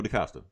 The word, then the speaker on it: DaCosta: Roberto DaCosta. Did I say it right? Oh, DaCosta.